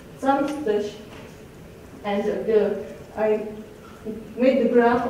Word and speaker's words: Samstag: For a Saturday, we say Samstag, and I made the graph of all the variants in writing we found. Here's the list on the right. And you see the stressed syllable is the first one.